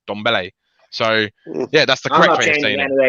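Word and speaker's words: Dembélé: that's how you actually pronounce it it's actually pronounced donbelle so yeah that's the correctness that's how you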